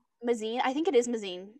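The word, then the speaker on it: Mazeen: by impaling him, and then she kills Lord Mazakine. No, I'm pronouncing it wrong. I know I am. I don't remember it because, like, I didn't. Mazine? I think it is Mazine.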